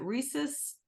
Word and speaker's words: rhesus: bloodline you and I don't know if I'm pronouncing is it rhesus negative bloodline how do you pronounce that is